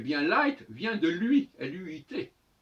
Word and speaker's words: luit: Parce que, comme il a dit, si night vient de nuit, eh bien light vient de lui, L-U-I-T, qui doit se prononcer luit, luit.